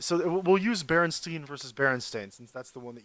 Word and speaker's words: Berenstain: So we go out and we get the book, and I read through it, and I'm like, haha, Berenstein.